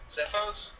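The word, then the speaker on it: Xephos: That's probably not how you pronounce that. I'm sorry to everybody who speaks Greek. Sifos?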